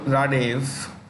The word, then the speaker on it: Radev: okay bulgarian president ruman radev when a word ends in v in east europe and europe in a russian language the v is pronounced with an f roman radish has appointed